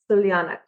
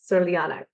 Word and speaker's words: Crljenak: So it's Crljanak. Crljanak. It's spelled like Crljenak.